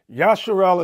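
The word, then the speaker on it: ישראל: also present in Africa yasharel is how he pronounces the HEB way to how he pronounces Israel he's saying Israel is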